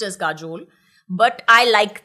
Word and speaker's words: काजोल: द वे काजोल ही आपका नाम था या काजल था इसलिए बंगाली में काजोल हो गया नहीं